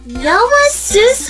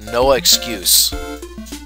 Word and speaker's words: Noah Seuss: Noah Seuss High. Actually, it's pronounced Noah Excuse.